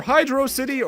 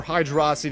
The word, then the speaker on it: Hydrocity: highly contested pronunciation zones either hydrocity or hydroxy depending on who you talk to I don't mind either